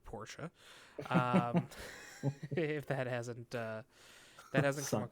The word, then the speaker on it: Porsche: Porsche, the two-syllable word Porsche.